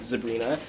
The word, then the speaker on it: zebrina: I believe is how it's pronounced, zebrina.